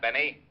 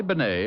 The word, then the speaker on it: Benet: It's pronounced Benet, not Benny. That idiot was calling him Rennie Benny.